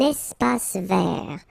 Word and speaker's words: espace vert: Un espace vert. Final E not pronounced, and then final T not pronounced.